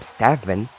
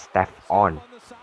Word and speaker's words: Stephen: Instead of calling him Stephen, they referred to him as Steph On.